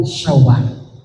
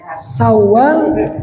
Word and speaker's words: Syawal: Kalau pakai sin besar syawal artinya peningkatan dalam beribadah. Tapi kalau pakai sin kecil sawwal itu artinya perempuan-perempuan yang menggoda laki-laki.